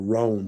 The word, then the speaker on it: Rohn: It was business philosopher Jim Rohn, Rohn, or Rohn. Some people, I always pronounce it Ron, but I think more people pronounce it Rohn.